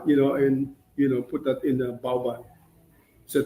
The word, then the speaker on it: bao bun: it pronounced bao bun?